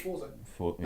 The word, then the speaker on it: Forza: Need for it's Forza. Oh, thank God. I'm No, not gonna play that it's game.